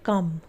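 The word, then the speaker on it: come: फिर है सी ओ एम ई। इसे पढ़ेंगे कम। क्या पढ़ेंगे इसे? कम पढ़ेंगे।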